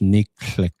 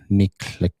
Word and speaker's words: niklik: We have sockeye salmon, pronounced niklik, niklik.